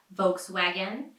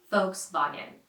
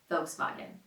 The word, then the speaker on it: Volkswagen: will hear people say Volkswagen because it's adjusted to American sounds but a lot of people actually prefer to say it right with the original pronunciation folks loggin folks buggin so let's move on